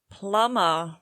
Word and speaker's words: plumber: Plumber. Silent B, but not a silent P.